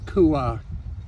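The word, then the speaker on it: Kuah: it Langkawi which is odd but it's properly pronounced Kua k u ha a or k ah anyway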